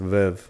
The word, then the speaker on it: Veuve: Well, it's pronounced Veuve, but I just say Veuve cuz we're in El Paso.